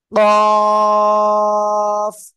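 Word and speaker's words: قاف: মোটা আওয়াজে উচ্চারণ করতে হবে। কফ, চার এলিফ টেনে উচ্চারণ করতে হবে।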